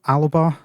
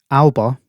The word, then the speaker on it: Alba: um first of all alaba nope i keep doing it every single time i pronounce it the scottish way alba a wildlife adventure um